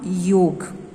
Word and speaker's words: योग: Very first chapter, chapter 1, internal organs of Ashtang Yoga. Okay, now आपने जो word सुना है that is योगा. Okay, but actually in Sanskrit, the correct pronunciation is yog.